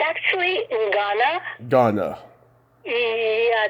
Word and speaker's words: Ngana: do you pronounce it, Nagna in South Pacific? It's actually Ngana. Ghana. Yeah, it's a funny word, isn't it? Ngana. Yeah. I think the N is silent. It's Ghana.